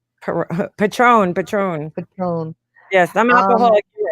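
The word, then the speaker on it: Patrón: Perone? Patron. Patron. Yes, I'm Um, alcoholic hero pugs. You can't even pronounce the name of tequila.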